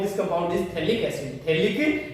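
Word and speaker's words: Phthalic: थैलिक acid, P इसमें silent रहेगा।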